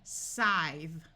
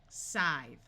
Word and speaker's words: scythe: This word is going to be scythe, scythe, using the TH sound covered in level 2, lesson 8.